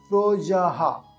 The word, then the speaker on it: প্রজাঃ: সেই জন্য এখানে সহযহা প্রজাহা বিসর্গ থাকলে হ এর উচ্চারণ হবে সেজন্য প্রজাহা সৃষ্ট সৃষ্ট